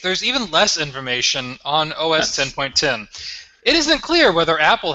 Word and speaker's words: OS X: 10.10 or is this OS 10.10 that's always X 10.10 Apple has never called it OS X it's always been OS 10 that has always been pronounced 10 so it's always been OS 10.